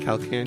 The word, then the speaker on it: Calcanio: Yeah, Did I so- say it right? Calcanio? Yeah. Okay. Calcanio. Calcanio. Okay, But- just 3 syllables.